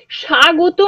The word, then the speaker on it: স্বাগত: স্বাগত আমরা যখন বলছি আলাদা করে আমরা সোয়াগত বলছি না, কিন্তু এই ওয়া ধ্বনিটা শ্রুতি ধ্বনি হিসেবে থেকে যাচ্ছে, বা অর্ধ স্বর হিসেবে